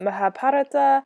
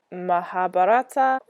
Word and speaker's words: Mahabharata: did some youtubing and there doesn't seem to be a standard pronunciation from what i looked at so i heard mahabharata i heard mahabharata i don't know if